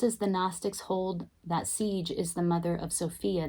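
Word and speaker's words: Sige: more sensitive to noise now siege it is pronounced siege siege is the gnostic goddess who is considered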